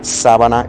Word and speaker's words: sábana: Por ejemplo, en español sábana y sabana no es lo mismo.